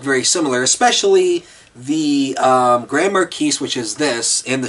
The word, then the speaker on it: Marquise: Now, this is, as I said earlier, this is a Grand Marquise, or it also could be called a Grand Marquis, but I believe it's technically pronounced Marquise.